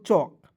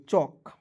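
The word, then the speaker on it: chalk: तो इसे पढ़ेंगे दोस्तों चौक। सी एच का च ए है तो इसको उच्चारण चेक नहीं पढ़ेंगे। चौक चक नहीं पढ़ेंगे। ठीक है जी। एल को यहां पे साइलेंट करेंगे।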